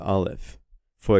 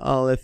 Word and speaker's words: Aleph: and the letter Alf yet the letter Alf is a silent letter in Hebrew it has no sound in and of itself and God the Father